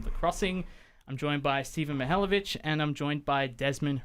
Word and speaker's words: Mihaljevich: I believe it's pronounced Stephen Mihaljevich.